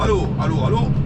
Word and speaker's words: Allauch: Alors, allô, tout droit. Bon, ça se prononce Aloche, hein, je vous avais déjà dit, ça se prononce, ça s'écrit Aloche, ça se prononce Allô. Comme allô, écoute, maman.